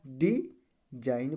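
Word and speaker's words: design: किसी भी शब्द में किसी भी शब्द में न से पहले आया जी यान से पहले आया जी हमेशा साइलेंट होता है ठीक है न है अब न से पहले आया जी तो क्या हो जाएगा रिमूव हो जाएगा तो इसको पढ़ा क्या जाएगा डिजाइन पढ़ा जाएगा डिजाइन क्या पढ़ा जाएगा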